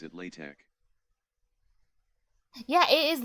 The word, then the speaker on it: LaTeX: called latex oh like the way the people who made the language intended it to be pronounced was latch I didn't know that